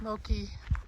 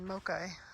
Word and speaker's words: Moki: at the top of Moi dugway I think I've been pronouncing it wrong before I've been saying mochai I don't know why